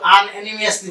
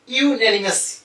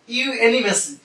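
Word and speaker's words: unanimously: এটা অনেকে কিন্তু আনএনিমিয়াসলি বলে, উচ্চারণ কিন্তু আনএনিমিয়াস না, উচ্চারণ হলো ইউনানিমাসলি। উচ্চারণ এলটা কিন্তু পারবে না, ইউনানিমাসলি, সর্বসম্মতিক্রমে, ইন দ্য জেনারেল অ্যাসেম্বলি, সাধারণ সমাবেশে, অফ দ্য ইউনেস্কোর dash some countries pointed out.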